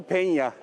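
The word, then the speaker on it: Peña: isminin telaffuzu doğrulamış oldu illaki penya şeklinde telaffuz edeceğiz İspanyolcada transfer hakkında birşey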